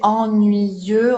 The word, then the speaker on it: ennuyeux: élèves que le Y, ils peuvent le séparer en deux I.